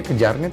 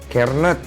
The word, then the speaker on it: Kjaernett: Bacanya Kejarnet apa Jarnet sih? Kernet.